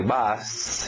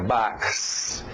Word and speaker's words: box: Box, aquele O aberto de A, não é chefe, box, é box.